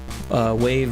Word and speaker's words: WAV: I could do that, but we're gonna change it to WAV because that's how I spell my studio. But it's pronounced wave, so you're not wrong there.